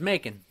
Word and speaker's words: Macon: Towards Macon. Rhymes with bacon.